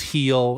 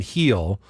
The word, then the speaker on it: Gil: of making that up I know that the Spanish G is pronounced like an H so it's it's heel it's really I mean